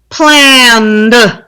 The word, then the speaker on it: planned: Number 3, planned. 1. It's 1. It's a long one, but it's 1. I'll repeat. Planned. And it has the d ending.